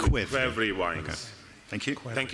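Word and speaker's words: ქვევრი: vessel so we can get an authentic Georgian pronunciation? The clay vessel in Georgian is the kvevri, so we call it kvevri wines.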